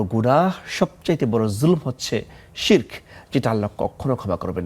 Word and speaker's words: শিরক: আলহামদুলিল্লাহ সালাতুসসালাম আলা রাসূলিল্লাহবাদ শিরক আরবি শব্দ তবে আমাদের বাংলায় অনেকেই শিরক বলে শব্দটা শিরক হবে শির নিচে জের দিয়ে রার জয়জম শিরক তো বাংলা শব্দ তো এজন্য শেরক বলে অনেকেই উচ্চারণ হবে শিরক শিরক শব্দের শাব্দিক অর্থ